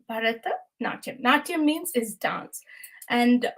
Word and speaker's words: Bharatanatyam: I think it's good to learn how to pronounce this word. It is Bharata and Natyam. So Bharata Natyam. Bharata Natyam.